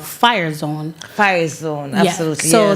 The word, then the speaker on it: FYRE: So as far as the youth is concerned, I work with an organization called Fire Zone. Fire Zone, absolutely. So that's an acronym, and it's spelled FYRE, Entertainment, and that's founded by Mr.